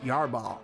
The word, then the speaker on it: Yarbrough: in campiones league yarba wes yarbal let's say his name correctly william yarba he sounds like an old